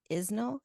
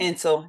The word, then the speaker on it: Insel: Um, you mentioned Tom Isnell. Is that how you say it? Insel. Yeah, Insel. Insel.